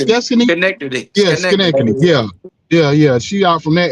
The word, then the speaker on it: Schenectady: Skets, how you pronounce Connected. Skeskany? Connected. Yeah, Connected. Schenectady.